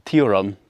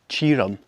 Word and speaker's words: Tioram: It's spelled Castle Tioram, but it's pronounced Castle Tioram.